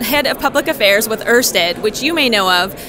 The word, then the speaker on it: Ørsted: so we decided to change our name to Ørsted. I'm not Danish, but that's the best pronunciation I have. However, it can also be known as just Ørsted here in the U.S.